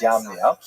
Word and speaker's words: Yavne: So, the Roman term for Yavna is Yamna, sometimes spelled with a J, pronounced Yamna, but really it's Yamna.